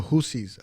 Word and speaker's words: Houthis: Yes, The Houthis. Apparently, you say it like that.